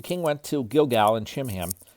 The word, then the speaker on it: Chimham: The king went to Gilgal, and Chimham, it's probably pronounced Kimham. It's a CH, so it could be a K sound or the CH sound.